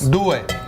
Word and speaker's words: due: Due. Duo? Dos. Is that how you say it in Italian? And in Italian it's due.